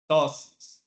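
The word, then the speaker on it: ptosis: called droing and topic the B is silent topis tosis next this is a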